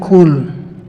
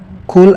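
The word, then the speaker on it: قُل: perjelas makhraj tempat keluar hurufnya jangan kita baca cool Ul itu artinya Katakanlah Qul artinya Makanlah jadi harus berhati-hati dalam pengucapan maksudnya agar tidak sampai mengubah makna kemudian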